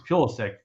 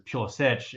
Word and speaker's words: Pulisic: I'm aware, but it's like Pulisic or Pulisic, right? There's the Americanized way that it is. Yeah, it's Pulisic in American, but it's Pulisic if you look at like Croatian or something.